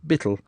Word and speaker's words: beetle: At this season the labourers are busy with beetle, pronounced bittle, a huge mallet, and iron wedges, splitting the tough elm butts and logs for firewood.